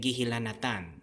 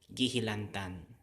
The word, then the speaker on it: gihilantan: So we get, for this word hilanat, if we affixate it with gi and an, the gi something something an as a circumfix, we get gihilanatan, right? Gihilanatan. But that doesn't sound so well in a normal conversational flow. So what happens is that this gets deleted, okay? This and now we just have gihilantan, okay?